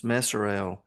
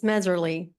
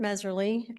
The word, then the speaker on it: Mezerly: And I may have mispronounced your name. If I did, I'm sorry. That's okay. We're we're used to it. It's Meerly. And um yes, I'm Mezerly from Hston County near Peach County.